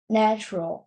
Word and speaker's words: natural: Natural. Yeah, not a long A sound. Not not natural. It's na. A short A sound. Natural, like apple, right?